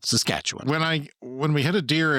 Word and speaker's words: Saskatchewan: you how to pronounce Saskatchewan. Yeah. Oh, yeah. People always, for some reason, when they're not here, they emphasize the first two syllables, You, Saskatchewan. you know, But when, really, it's just you emphasize just the second syllable, Saskatchewan.